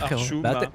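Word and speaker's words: archouma: Comme ça, c'est prononce souhait, archuma.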